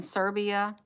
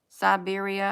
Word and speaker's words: Siberia: thank you I keep um I keep um pronouncing this thing wrong let me see am I do I got it in Serbia Siberia I don't know where I'm at okay yeah